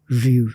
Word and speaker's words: Rue: It's Ru, like R-U. The E is not like.